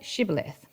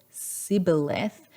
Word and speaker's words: Shibboleth: And if he replied, "No," they answered, "All right, say Shibboleth." And if he said Shibboleth because he could not pronounce the word correctly, if he said Sibboleth because he could not pronounce the word correctly,